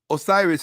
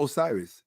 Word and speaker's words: Osiris: Osiris is not Osiris. If you pronounce it correctly, it's Osiri. Osiri.